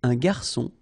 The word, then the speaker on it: garçon: Remember when we get this cédille beneath the C, it will give you the pronunciation S of C. So instead of K, as it should be with O, okay?